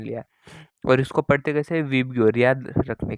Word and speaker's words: VIBGYOR: तो इसको याद रखने के लिए आप एक स्पेलिंग लिख लो, विबग्योर, VIBGYOR। यही स्पेलिंग को, मतलब इसको ही मैंने स्पेलिंग मान लिया और इसको पढ़ते कैसे, विबग्योर, याद रखने के लिए।